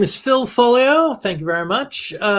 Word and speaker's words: Foglio: Foglio. The G is silent. Foglio.